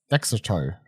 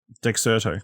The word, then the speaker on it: Dexerto: Dexerto. It's one of those things I know the website, but I've never had to say the name. Dexerto. Dexerto? Sure. Dexerto on a Dexerto.